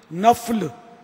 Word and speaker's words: نفل: نفل تلفظ نہیں ہے، نفل فا پر زبر ہے، فرض نہیں، فرض، منٹ